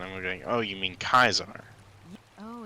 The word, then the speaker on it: Caesar: with that deck named Kaisar, Mm-hmm. and everybody's gonna pronounce it Caesar, and they're gonna say,